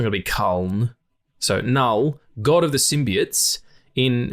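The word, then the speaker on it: Knull: I think it's pronounced null it's k n l l I would say that's a silent k it's not going to be col so null god of the Symbiotes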